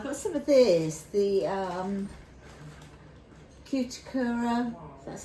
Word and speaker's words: Cuticura: I've got some of this, the cuticura, that's how you pronounce it, the mildly medicated body powder.